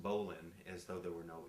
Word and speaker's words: bowline: like it look looks like it would say bowline but actually it's pronounced bowline and so there were no e on the